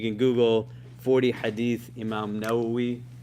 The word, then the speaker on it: Nawawi: you know you can Google 40 Hadith Imam nawi right now we is spelled n-a-w-a-w-i we're gonna look at the first